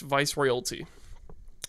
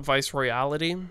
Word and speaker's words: Viceroyalty: brand occasion also the the album's pronounced Viceroyalty not vice reality I pronounced it like